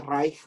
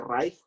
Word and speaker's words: Reich: Como Kinder, Führer, Kaiser, Reich. CH se pronuncia como J, Reich, por eso dije Reich.